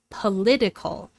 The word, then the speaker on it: political: So we move the stress from the first syllable to the second syllable in the adjective form. The vowel in the first syllable is unstressed and reduced to a schwa, political.